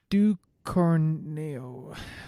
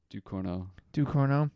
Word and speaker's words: Ducournau: Julia Ducournau. Can you pronounce that? Ducournau. Anyway. Ducournau.